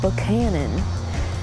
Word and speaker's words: Buchanan: So there's Buchanan, which you say as Buchanan.